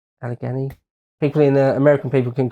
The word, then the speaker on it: Allegheny: I think it's pronounced Allegheny. Allegheny.